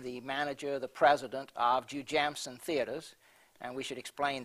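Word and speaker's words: Jujamcyn: It's really three names, isn't it? The first couple of, the first syllable of three names? The owner of the company, Jim Binger, his three children, Judy, James, and Cynthia. That's how you got so it's Jew Jamson.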